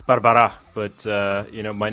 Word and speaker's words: Barbara': hate doing that so I'm going to say Barbara close it's Barbara but uh you know